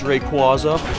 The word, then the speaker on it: Rayquaza: those things where some people argue over the pronunciation oh it's not requisite it's Rayquaza but again if you knew the Pokemon I